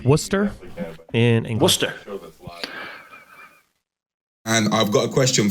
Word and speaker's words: Worcester: great this is from I believe it's pronounced Worcester and in Worcester and I've got a question for both of